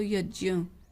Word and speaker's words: यज्ञ: हुआ होता है उसका तो जो हम यज्ञ शब्द बोलते हैं वो असल में यज्य है उसका सही उच्चारण करना तो यज्य यज ऐसा करना चाहिए हम देखते हैं संधि